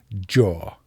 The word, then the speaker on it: Dior: of American pronunciations, and he declared that it is pronounced it's a single syllable Joor.